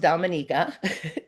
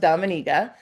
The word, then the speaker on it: Dominica: Um it is pronounced Dominica.